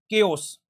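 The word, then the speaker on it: chaos: इस वर्ड को कई बच्चे जो है चाओस बोलते हैं। चाओस। इस वर्ड की सही प्रोनाउंसिएशन क्या है? केओस।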